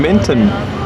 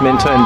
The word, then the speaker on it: Menton: Here we are in Menton, pronounced Mentone by those wacky Italians, and it is lovely.